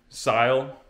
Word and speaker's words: Syil: the machine that's coming sile i don't know if you've heard of it s-y-i-l i think that's pronounced right style or sil i've heard it two ways but it's a cnc